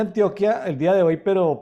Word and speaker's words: Antioquia: Milena Zapata desde Medellín antioquía o Antioquia antioquía antioquía se pronuncia Antioquia el día de hoy